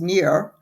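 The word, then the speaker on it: Nir: simply called hooked and it's the author is near EOL very H odd name but that is supposedly the pronunciation it's n i pronounced near and last name is e y a l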